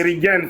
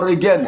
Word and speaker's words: Reagan: C'est Reagan, c'est le nom anglais. Ah, Reagan. Ah, d'accord. Bon, écoute. Non, on lit ça en français, Reagan.